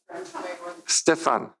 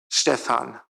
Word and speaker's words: Stephan: our speaker Dr Stefan was that better it's the the in German the second syllable is long so stean I'm sorry anyways big